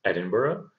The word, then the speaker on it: Edinburgh: of scotland and be careful about the pronunciation pronunciation here it's edinburgh cardiff is the capital of wales and belfast